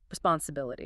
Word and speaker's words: responsibility: Notice the eye sounds are very short and soft. We don't say response CBLET. It's softer, faster. Responsibility.